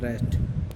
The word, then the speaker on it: wrest: WREST pronunciation रेस्ट।